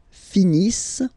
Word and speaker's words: finissent: Ils finissent. So remember, as usual, when we've got the verbs, E-N-T, not pronounced.